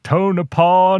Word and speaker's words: Tonopah: And so whoever was doing the announcing on the radio was like, welcome to Tonopah, Nevada.